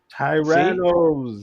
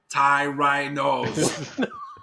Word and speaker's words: Tyrannos: Tyronis. See? Tyrannos. Tyrannos. No, Tyrannos. not There you no go. Tyrannos. no. Tyrannos. Tyrannos.